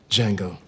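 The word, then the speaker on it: Django: it was a remarkable feat what's your name Jango can you spell it d j a n g o the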